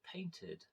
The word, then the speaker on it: painted: For example, I painted my house. So painted, Painted, but the ed is pronounced as an id, as in id.